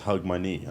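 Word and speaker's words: Hogmanay: would you consider like how do you say hog hog mode you say holiday and I'm like oh okay that makes sense he says hug my knee yeah you literally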